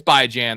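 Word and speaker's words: Bijan: Like Bjan by Jan is the best because best player in football and by Jan. He's like, "No, no, it's called it's by Jan.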